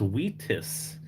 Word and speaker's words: Vitus: It's pronounced Wheatus, like the band Wheatus.